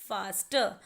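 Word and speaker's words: faster: और फास्ट से बना फास्टर, लेकिन फास्टर में आर एंड में आया है, इसीलिए आर की साउंड इज साइलेंट और वर्ड बनेगा फास्टर।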